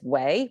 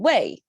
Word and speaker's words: 为: One is wei, one is wei, but it's the same character. By itself, it pronounces wei, but when it's put in a context and with other tonations, its inflection can change. So in this case, because we have a ning and it's a falling tone, so if it's